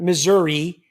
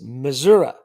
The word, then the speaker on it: Missouri: It's not Missouri. It's Missouri.